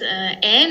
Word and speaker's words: Ann: Jein, es ist das Ähn, also das An, wird englisch ausgesprochen, kommt aber in der Tat aus dem Deutschen.